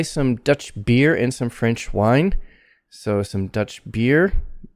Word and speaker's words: French: and some french wine so again french not frenchy but french tongue curled up french wine and main stress on wine french wine next do you have